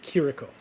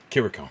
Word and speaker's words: Chirico: is that correct uh in the show it's pronounced kiriko kiriko that's uh here we go that's how I've